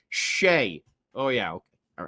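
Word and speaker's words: Skjei: Skeji. How do you pronounce that? Shea.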